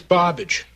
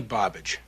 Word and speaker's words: Barbage: Name's Barbage. Barbage. Rhymes with garbage.